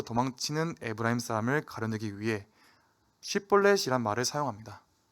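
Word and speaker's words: 쉽볼렛: 입다가 에브라임을 물리친 후 요단강 나루토에서 도망치는 에브라임 사람을 가려내기 위해 쉿볼렛이란 말을 사용합니다. 에브라임 사람은 쉬라는 발음을 못하고 시라고 발음하는 습관이 있었습니다.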